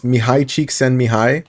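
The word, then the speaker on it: Csikszentmihalyi: but but the the the article that I read it said pronounce it like this it's Mii cheek send Mi High um bless you yes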